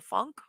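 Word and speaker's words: Funke: German author yes yes and okay I did pronounce it it is Funk Cornelia Funk um there are so many great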